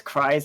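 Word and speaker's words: Kries: them it just says cries at Market square it's weird because it's spelled k r i e and then the S but like there is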